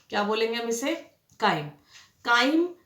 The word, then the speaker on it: chyme: काइम CHYME, चाइम नहीं pronounce करते, इसे काइम बोलते हैं।